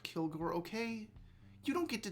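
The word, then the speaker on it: Kilg%re: time i know t ted i know it's pronounced kilgore okay you don't get to tell me how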